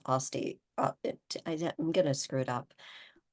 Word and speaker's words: Aste: Aste, even though it's pronounced Osti.